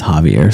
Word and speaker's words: Javier: make a correction I was wrong on the pronunciation of this gentleman's name it is Javier so Clint was right so let's give an